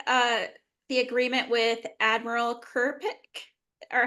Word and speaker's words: Kirkpick: It's not looking good for I believe she makes the uh the agreement with Admiral Kerik or how do you pronounce her name? Yeah, Kerpik.